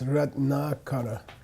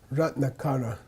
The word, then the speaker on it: Ratnakara: In English, we normally accent the penultimate syllable, the next to the last syllable. Ratnakara, Ratnakara, Yamantaka, Yamataka. Yeah, but if you know Sanskrit, you should be kind of giving more emphasis to the long vowel.